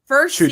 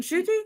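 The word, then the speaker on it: Ncuti: Just Shooty, no N. No, there is an N because he did come out in an interview and said that his mom yelled at him for pronouncing his own name wrong. The N is pronounced.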